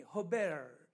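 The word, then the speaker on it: הֶבֶל: 라고 했던 마음이 2 아벨이 라고 하는 말은 히브리어 에 원랜 발음이 허 벨 이렇게 나가요 이 영어로 얘기하면 낫띵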